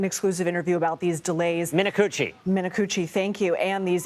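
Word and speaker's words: Minicucci: And you spoke with Alaska Airlines CEO Ben Min, you're going to have to pronounce his last name for me in an exclusive interview about these delays. Minuchi.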